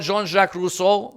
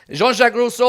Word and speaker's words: Jean-Jacques Rousseau: I brought with me here, you've got Jean-Jacques Rousseau, and I hope my friend Aqil is proud of my pronunciation. Jean-Jacques Rousseau, what do we have?